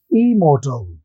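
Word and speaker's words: immortal: दीजिए और हो जाएगा इमोर्टल। क्या बोलते हैं? इमोर्टल। इमोर्टल नहीं, गलत उच्चारण होता है, इमोर्टल नहीं, इमोर्टल। जब डबल एम आते हैं तो पहले वाला एम साइलेंट हो जाएगा, तो इमोर्टल कहेंगे।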